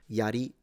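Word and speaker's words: 槍: ninja ninja instead samurai samurai is a rising pitch samurai same with yari the spear or yumi the bow. These are all low to high pitches in Japanese.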